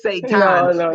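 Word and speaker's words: seitan: right you know I it's not Satan y'all but it's sat time what are you using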